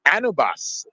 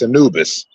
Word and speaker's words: Anubis: call me Mr most of the people get my first name wrong they always go anubus I'm like it's Anubis anubus on the mic